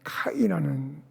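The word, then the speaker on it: καί: 여러분, 여기서 그리고라고 하는 이 헬라어로 발음을 할 때는 카이라는 단어인데요.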